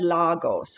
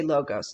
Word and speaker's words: logos: logos pathos and ethos the greek said lagos okay logos americans say logos it means logic logical